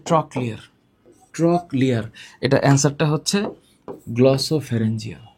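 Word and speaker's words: trochlear: All factory অকিলোটর ট্রক ক্লিয়ার না উচ্চারণটা হচ্ছে ট্রক ক্লিয়ার।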